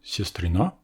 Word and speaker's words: сестрына: Enfin, dans le mot siestrina, qui veut aussi dire sœur, l'accent est aussi sur le a final, mais le yo d'origine, lui, se trouve 2 syllabes avant.